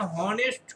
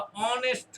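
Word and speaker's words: honest: কারণ আমরা pronunciation হনেস্ট করি না। হনেস্ট করি না। আমরা অনেস্ট করি।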